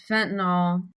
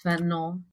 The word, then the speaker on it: fentanyl: And then um Fentanol um which I've been informed on the internet I pronounced it wrong. I guess it's fentanyl. Fentanyl or fentanyl um but I didn't know that at the time.